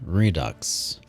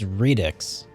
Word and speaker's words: Redux: that apparently okay readix Google says it's Redix as the American pronunciation what about British three Ducks okay so in British they call it Redux okay I'll go with the British version because that sounds better it sounds more correct s Okay so I